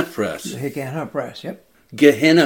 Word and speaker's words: Gehenna: Gehenna three, Press. Three syllables.